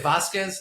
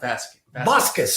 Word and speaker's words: Vasquez: Vasquez, the right way to say Vasquez, not Vasquez. Vasquez. Like with a B.